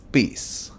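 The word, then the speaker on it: Pace: Elder o el presidente par pis así se pronuncia su apellido mar pis él es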